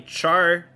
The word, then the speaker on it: Charcadet: Charcadet, or apparently Charcadet, is how they pronounced it.